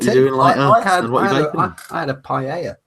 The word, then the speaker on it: paella: of people call it pa. Yeah, they do. You and I both know that two L's in Spanish is pronounced with a Y.